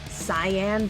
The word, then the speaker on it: Cayenne: who didn't know what Cayenne was I think it's technically pronounced cyan but that sounds stupid or they didn't even